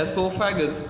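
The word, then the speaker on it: oesophagus: ओ यहाँ पे साइलेंट है तो हम इसको पढ़ते हैं एसोफेगस, या फिर गलेट भी बोलते हैं इसको।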